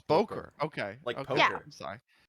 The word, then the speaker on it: Bokor: good it's good okay that's actually how you pronounce it that there are some people who say like bore here in Brazil and it's not it's just Boker oh it's Boker okay I'm sorry it's it's one of these